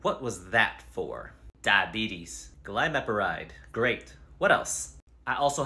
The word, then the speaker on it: glimepiride: one okay anything else I recently started on glide met a ride and what was that for diabetes glimepiride great what else I also have high blood